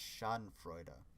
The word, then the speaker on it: Schadenfreude: pronounced Schadenfreude, or Schadenfreude, because in German you actually pronounce, like, basically every letter in the word. So at the end of the word you have an E, so it'd be an E, which would be a sound.